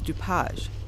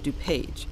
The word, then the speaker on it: DuPage: South by the way the correct and original pronunciation of his name was DuPage rather than the Americanized version DuPage that we use today at least we get